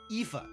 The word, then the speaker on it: Aoife: Aoife.